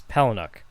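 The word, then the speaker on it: Palahniuk: think a couple times I believe it's peluk uhhuh it's spelled p a l a h i n u k so when people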